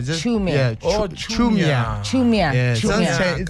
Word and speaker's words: Chiumya: Please teach us how to pronounce it properly. It's a silent I always say that. Okay, so Chiumya. Chiumya.